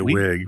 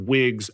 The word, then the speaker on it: Wiig: I just say wig, but I say wait, but I mean, you're pronouncing it the same way you would if she was a Nintendo Wii, so maybe you're right.